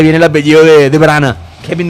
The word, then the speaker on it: De Bruyne: Pronunciar bien el apellido de Brana. Kevin de Brana.